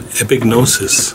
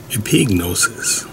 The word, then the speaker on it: epignosis: I'd like to look at a word today that's found in the New Testament, and it's called epignosis, or epignosis. No matter how you pronounce it, it means knowledge, and it means